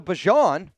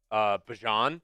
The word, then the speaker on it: Bijan: So technically, his family and his parents call him Bijan. Yes. But he likes Bijan. Yep. So it's Bijan.